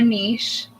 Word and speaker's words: niche: I just wanted to say that a good description for what a munch is, it's a group of like-minded niche individuals. Or niche.